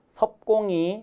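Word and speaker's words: 섭공: 드린 적이 있습니다 그니까 나무 잎이라고 할 때는 옆이라고 읽지만 지명 어느 지역의 땅 이름으로 지역 이름으로 저 입법자가 쓰면 섭이라고 하고 또는 사람의 성씨 성씨에 저 역자가 쓰일 때도 섭이라고 읽습니다 석공이 정치에 대해서 물었지요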